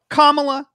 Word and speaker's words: Kamala: kamala harris uh or can't how do we pronounce her name kamala all right kamala harris kamala harris she